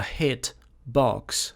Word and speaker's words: hitbox: of a hitbox a hit box and when i pronounce it a hitbox uh i don't pronounce the t sound i i say hit box right and then